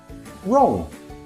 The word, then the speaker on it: wrong: The rule, W is silent when it comes before R. Why? Well, this one has Germanic roots. We used to say the W and English speakers dropped it because R was strong enough on its own. You know these ones. They're very common. Right. Wrong. Wrist. Memory trick. Waits in silence. R does the talking.